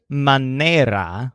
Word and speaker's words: manera: man who makes toys the word manera with a stress on their means manner or way